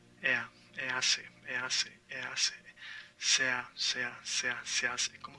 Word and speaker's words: hace: Now, here we have se hace. It's not hace. The H is mute. You say hace, not hace.